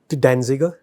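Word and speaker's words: Danziger: हाँ, और इसके पहले ये फेडरिक डेंज, इसमें जेड साइलेंट है क्या भाई साहब? नहीं, तो कैसे पढ़ेंगे इसको? फ्रेडरिक डेंजिगर।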